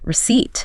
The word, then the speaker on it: receipt: Silent P, psychologist, receipt.